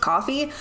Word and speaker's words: Ko-fi: I'm pretty sure I'm pronouncing Ko-fi wrong. I think it's supposed to be pronounced coffee, but it's spelled Ko-fi, so that's what I'm going with.